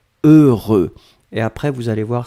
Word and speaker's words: heureux: fois heureux donc ne ne regardez pas le h ne regardait pas le x ne regardait pas le eu juste fermer les yeux visualiser c'est cette combinaison heureux heureux et après vous allez